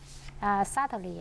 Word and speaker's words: subtly: Subtly, I think I would say it's just uneasily to be detected.